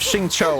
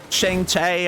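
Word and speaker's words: Xingqiu: said like instead of shincho I said like Chiang chai and Shang chai I was just butchering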